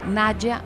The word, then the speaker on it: Nadia: llamaba Nadia Marley que en portugués se pronuncia naya Marley su mejor amiga